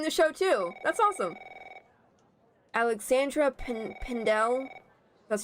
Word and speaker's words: Alexandra Pendel: Alexandra Pendel. That's how you pronounce her name.